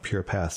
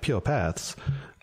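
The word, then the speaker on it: PurePaths: at pure paths or I put the accent on the wrong pure paths that's the Christopher Walkin way saying it when you're looking at po paaths um you have three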